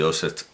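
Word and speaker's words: Johst: un Browning, por cierto, pronuncio St porque es una S frente a una T, la H simplemente alarga la vocal, el nombre de Jost es J-O-H-S-T, lo cual nunca está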